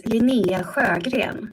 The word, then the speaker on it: Linnea Sjöberg: I think it was fine, but it's Linnea Sjöberg. So, Swedish, hard to pronounce in English, that's fine.